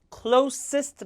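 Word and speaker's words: closest: 라고 말하게 되는데 , 노란색 부분 은 스트레스 를 나타냅니다 . " 클로스티스트 " 라고 발음 해야 합니다 .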